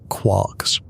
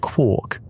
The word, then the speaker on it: quark: Gelman called his particles quarks.